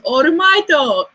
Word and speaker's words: All Might: Like his name is Orumaito, not All Might. I know that his name is All Might, and that's just like the Japanese way of pronouncing English words.